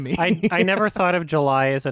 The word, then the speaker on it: July: I always thought it was Miranda Julie. Thank you. It's probably July, isn't it? Well, it's that's spelled how you exactly spell like July.